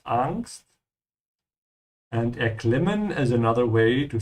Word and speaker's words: Angst: Die Angst, make sure to pronounce it with an open "a" in German. It's not Angst, it's Angst.